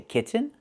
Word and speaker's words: kitten: You can use a real T and say kitten, button, and cotton. Or do the stop T and fall to the N.